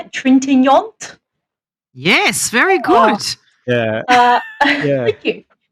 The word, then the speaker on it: Trintignant: Trintignant?